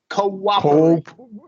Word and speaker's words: cooperate: Cooperate. Cooperate. Yeah. Cooperate. That's it. Cooperate. The second O is lacks Short. A or short O, right?